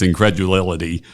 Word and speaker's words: incredulity: I have trouble with that word. It's incredulous, but it's incredulity. I said it wrong.